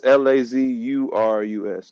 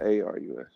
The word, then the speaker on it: Lazarus: It's Lazurus though, not Arus.